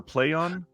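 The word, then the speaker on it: Plaion: Is it Plyon or Playon? Play on, play on.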